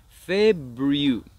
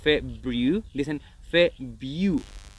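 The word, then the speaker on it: February: mismo que en enero el acento está en la primera sílaba en febrero también es febril Superman Ahora vas a notar que mucha gente no pronuncia la r muchos hablantes nativos nos dicen fe View Así que eso no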